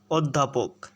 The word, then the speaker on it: অধ্যাপক: দয় হস ধয়াকার পকা, অধ্যাপক। হ্যাঁ, এটা যদি তুমি বারবার মুখে উচ্চারণ করো তাহলেই সেটা অধ্যাপক হয়ে যাবে, ঠিক আছে? তাহলে অ এর উচ্চারণটা ও এর মতো উচ্চারিত হচ্ছে অধ্যাপক শব্দে।